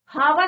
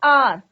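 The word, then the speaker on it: hour: अब यहां पर देखि बच्चों हावर नहीं पढ़ना है इसको क्या पढ़ना है बच्चों एच साइलेंट रहेगा आर तो क्या आएगा इसके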